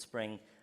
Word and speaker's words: Xspring: It's spelled with an X, but it's called Spring, which you're trying to get developers onto it.